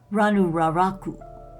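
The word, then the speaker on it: Rano Raraku: that ranu Raku moai giant statues let me pronounce that again ranu ranu raraku moai giant statues look at part of the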